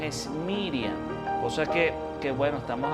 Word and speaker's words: Miriam: la cultura hebrea y bueno su nombre su pronunciación es miriam cosa que qué bueno estamos acostumbrados a decir